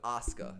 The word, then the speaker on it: Asuka: It's Asuka. That's how they say it.